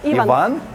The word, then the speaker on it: Іван: Іван? Так, А. наголос Іван.